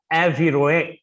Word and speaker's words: environner: The environner, English is like that, but it's actually the French word is pronounced environner, and the Latin word ambire.